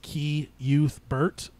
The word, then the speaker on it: Cuthbert: 9, Reaping, Subchapter 4, King sounds out Cuthbert's name via Shimi, pronouncing it as Key Youth Bert, subject closed.